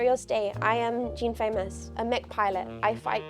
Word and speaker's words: Faymas: It's meant to be famous. I pronounce it incorrectly, like famous, but it's meant to be Jean Faymas. Like the gun. It's like the gun chat.